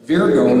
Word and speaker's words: Virgo: There are people in certain cities and pockets that talk like that in the U.S., but Virgo is the proper pronunciation.